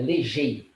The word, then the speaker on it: Legey: Não, é como se pronuncia, Legei, Legei, falei G-E-I. certo. Pedro Falou Paulo certíssimo. Legei.